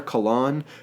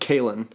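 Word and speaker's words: Kahlan: also really missing uh I call her cologne but apparently I I heard from a friend of mine who's read the series that is pronounced Kalyn and there's no there's no other way to pronounce it Kalin must be Kalin uh I I'm gonna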